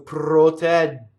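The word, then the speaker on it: protegge: So protɛgge. Again, I go up to it, I don't say it, and then I say it. Protɛgge. I hear a lot of people singing and they actually clip that first vowel. So you get protɛgge. You see what I mean? So the E is too short.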